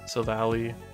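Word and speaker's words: Silvally: You do pronounce it sil sil valley since the name is a part of silver alley.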